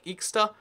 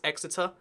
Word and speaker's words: Exeter: You might say Exeter. Nope, it's Exeter.